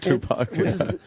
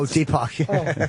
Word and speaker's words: Deepak: Tupac, how do you say his name? Oh, Deepak. Deepak. I kept thinking that, too. It's like, Tupac. Yeah, I think I was saying Deepak. Tupac and me. Deepak, right? Deepak, yeah.